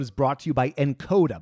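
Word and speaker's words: nkoda: This episode is brought to you by Encoda. By the way, that's spelled N-K-O-D-A.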